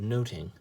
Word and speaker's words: nothing: it was said was just like a hard T instead of a th sound so it was actually